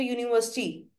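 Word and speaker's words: university: Consonants में क्या है, मैंने कैसे बताया था आपको, यूनिवर्सिटी। इसकी जो प्रोनाउंसिएशन है बच्चे, वो वाई यू से शुरू होती है।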